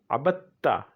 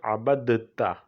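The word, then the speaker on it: عَبَدْتَ: So abada, abada, abada, abadu, abadat, abadata, abadna, abatta. Here we'll have an idgham. Abatta, not abadta. Okay, abad, we write abadta, abadta. Okay, but we pronounce abatta. This is because of the idgham.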